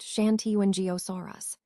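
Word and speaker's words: Shantungosaurus: Let's take a closer look at Shantenosaurus, which is pronounced Shanti and Giosaurus.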